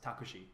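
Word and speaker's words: タクシー: Like a taxi cab would be written in katakana and it'd be pronounced takushi.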